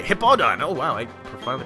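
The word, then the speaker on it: Hippowdon: oh yes say goodbye the hippo hippo Don that's how you say hip all done oh wow I finally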